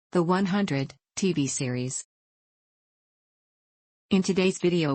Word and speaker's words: The 100: The 100, pronounced The 100, is an American post-apocalyptic science fiction